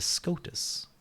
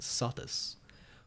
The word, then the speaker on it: Scotus: o and u theol Latin C would have continued to have its classical pronunciation just as in English before those vowels like a K in the poem this would have applied to scando and crucially to scotus itself or scotus what Andrew is being mocked for is pronouncing C in a soft fashion in all environments including these and so saying Sando and saus including these and so